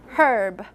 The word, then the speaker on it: herb: British English this initial Edge needs to be pronounced so it's herb her oh yeah drop that R it's after